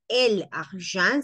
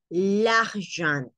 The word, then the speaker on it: l'argent: Entonces acá es l'argent. No es el argent, sino l'argent.